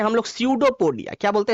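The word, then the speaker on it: pseudopodia: तो हाथ निकालने का जो हाथ निकालता है, इस स्ट्रक्चर को बोलते हैं हम लोग स्यूडोपोडिया। क्या बोलते हैं, स्यूडोपोडिया। पी होता है साइलेंट, तो स्यूडोपोडिया, ऐसा जो स्ट्रक्चर है इसको बोलते हैं स्यूडोपोडिया।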